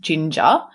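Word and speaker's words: Jinja: so with DBT and I think it's pronounced Ginger but it's with a J which is basically like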